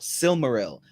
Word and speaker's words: Silmaril: and and like uh this is for r-i-l Real it's like Brilliance in Israel silmaril also an enderil the